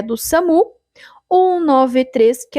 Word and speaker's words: SAMU: Então, se no teu estado tiver essa questão, eles cobrarem o significado da sigla SAMU, que a gente pronuncia SAMU, é Serviço de Atendimento Móvel de Urgência.